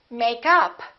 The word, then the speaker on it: makeup: stressed a preposition and if it's a noun we stress the first part for example makeup or I'm wearing makeup I'd like to buy some new makeup another example is check up or you can